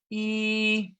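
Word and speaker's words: 一: sunna there we go e okay so remember first tone go up your pitch is higher and keep it steady e very good the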